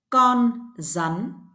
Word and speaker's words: rắn: ăn ăn răn D In The North of Việt Nam letter r is also pronounce the same letter Z in English rắn rắn con rắn con rắn con rắn